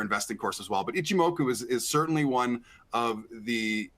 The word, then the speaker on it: Ichimoku: indicator like and I think it's pronounced, say, IchiMoku. So I'm not sure if that one's available, but hopefully I ah, didn't butcher that one. But- Jason- You know, you got it right. It's IchiMoku, and some of the names of many technical